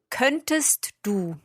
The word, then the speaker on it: könntest: Könntest du. Könntest du. There we are pronouncing that T, könntest du.